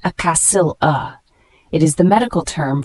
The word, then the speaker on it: axilla: The word axilla, spelled A-X-I-L-L-A, it's a noun, pronounced acassil-a.